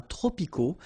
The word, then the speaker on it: tropicaux: So you can see that even if we've got the plural form here, S, we don't pronounce the S, and then we don't pronounce the T either. Les climats tropicaux. Final X not pronounced.